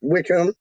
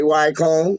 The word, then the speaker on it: Wycombe: Like Wycombe is like Wickham, but they say Wycombe.